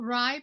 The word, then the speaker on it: RIE: are rye that's rie it's pronounced rye like the bread um and it stands